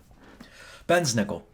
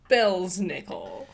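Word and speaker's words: Belsnickel: this is terrible um Ben's nickel Bell's nickel sometimes yep here it's spelled Bell's nickel I've heard it both ways originated in Europe during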